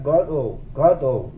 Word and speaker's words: Godot: Ele mandava pronunciar Godot, com acento grave no Got, não no O.